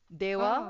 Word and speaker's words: では: Dewa, Oh, okay. Okay. the easier form to say it is ja. Ja. Ja. Okay. Okay, so I don't know how Dewa becomes ja, but yeah.